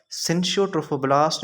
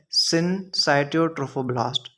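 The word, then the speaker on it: syncytiotrophoblast: एक साइटोट्रोफोब्लास्ट एंड दूसरा सिंसियोट्रोफोब्लास्ट। जिसको हम सनसाइटोट्रोफोब्लास्ट भी बोलते हैं। Whatever you pronounce it बट the better pronunciation is that it is called as सनसाइटोट्रोफोब्लास्ट।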